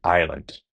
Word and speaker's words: island: Yes, as in Hong Kong Island. It's not is island. So, we rub out the s.